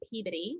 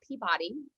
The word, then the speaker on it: Peabody: I'm from Peabody, not Peabody.